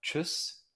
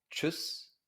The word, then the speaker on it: Tschüss: Entonces, esto se pronuncia Tschüss, porque doble S, y esto se pronuncia Tschüss, Tschüss, ¿no? En el diccionario vemos esta forma de la palabra, pero en la lengua hablada, en el alemán coloquial, se dice muchas veces Tschüss, así.